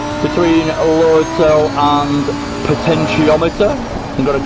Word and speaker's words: potentiometer: than just a potential i always say it wrong but a potentiometer is how you say it but potentially whatever it